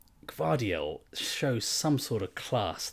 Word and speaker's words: Gvardiol: Gvardiol.